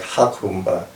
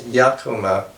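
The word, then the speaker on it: Jacumba: It's just west of the town of Yacumba. Yacumba is not a Spanish name, so it's not pronounced like Hakumba, as some might say. It's Yacumba, which is actually an Arabic word for the wild gourd.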